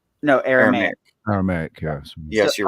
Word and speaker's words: Aramaic: Some very, very few parts of Old Testament are originally in Aramaic. No, Aramaic.